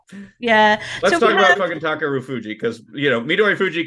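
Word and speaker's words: Takerufuji: Japanese never emphasize the U sound unless it's a U by itself, because they have subtle U sounds.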